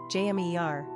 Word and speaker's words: Jamir: Pronunciation, jә-MEER.